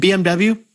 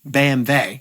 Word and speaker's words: BMW: And BMW, BMW in Germany.